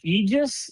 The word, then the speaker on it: EJEAS: So it's called Aegis is the name of the company. But it's spelled EJEAS, correct?